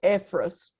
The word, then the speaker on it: Ephros: Mirale, Ephros, the name is Ephrat, the biblical name of Ephrat, but it was pronounced as Ephros.